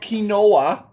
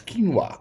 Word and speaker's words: quinoa: it's a seed guys quinoa it's not kinoa is quinoa apparently thank you Google